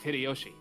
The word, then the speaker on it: Hideyoshi: 一文の焼け野原がわしの原点なんや This portly and slightly chubby man is George Aniki's dad, Uncle Hideyoshi, pronounced Hideyoshi.